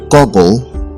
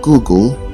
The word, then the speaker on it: Google: is the word Google the word Google is often mispronounced as goggle let's use it in a sentence you say let me Google to see if I